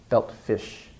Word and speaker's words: belt fish: Another example, belt fish. It's followed by a friction sound. It's one of those friction sounds. Belt fish. Not fishy, but fish. Again, we end the syllable of the word here. So belt fish, not belt, belt fish.